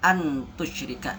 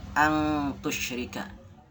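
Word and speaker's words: أن تشرك: Tidak dibaca antusyrika, tapi dibaca angtusyrika.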